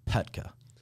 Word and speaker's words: Poettker: yeah so so uh in Germany the O is silent so the O is silent there's a there's two dots above the uh above the O and and so it's pronounced petka petka petka yeah in so